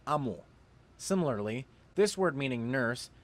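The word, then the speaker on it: 암호: This word on screen should be pronounced amho, but it is pronounced amo.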